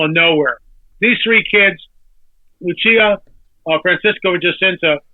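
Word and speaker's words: Lúcia: eat and drink so lucia lucia as you pronounce it in portugal lucia and jacinta eat and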